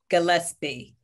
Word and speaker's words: Gillespie: We have Gillespie. Am I pronouncing your name correctly? Gillespie.